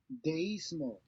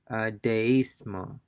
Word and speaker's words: deísmo: Since these words have a written accent over the letter I, the diphthong is broken and the two vowels are pronounced separately. Deísmo, So we have a written accent or the letter I, and by definition, they will be pronounced separately. The vowel sounds will be pronounced separately and not blended together.